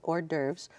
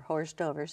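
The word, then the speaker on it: hors d'oeuvres: We have the Heirlooms and Hor D'oeuvres or horse dovers as some people call it just to try to spell it out.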